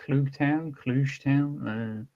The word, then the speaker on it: Klugetown: Well, how do you pronounce it? I that feel was like you would know. Shittown. Klugetown. Klugetown.